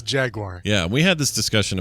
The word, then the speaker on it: Jaguar: I will tell you, I will tell all of you right now that it's not pronounced Jaguar, okay? Yeah, it's definitely not Jaguar. Or Jaguar. Yeah. It's Jaguar.